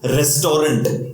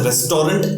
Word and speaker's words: restaurant: Restaurant is insane. The problem arises when we use this word and pronounce this as restaurant.